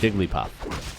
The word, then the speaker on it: Jigglypuff: For me, it's 3 syllables. Jigglypuff. And I believe the announcer in Smash Bros. Also says Jigglypuff.